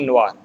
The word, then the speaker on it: Noir: N-O-I is pronounced as Wa, so it is Blanc de Noir.